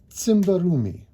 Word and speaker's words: Tsimbarumi: It is Tsimbarumi. Good. Pretty good. It's TS, which is tricky. It's it's like tsunami.